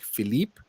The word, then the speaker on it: Philippe: think that's what's called there's a little Accent on the E then you say a as for French but usually with the E on the end it's silent so and it's more like Philippe romby okay well I